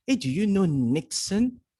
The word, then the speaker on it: niksen: Yeah, you might say it's called Nixon. I thought about that, but the way they pronounce it is nix.